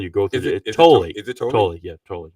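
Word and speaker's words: Tolle: You pronounce the E. So, it's not like a toll. You go through totally.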